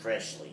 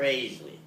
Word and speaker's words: Froeschle: Now, yeah, see, our name is not Froeschle. Right, it's It's pronounced. Froeschle.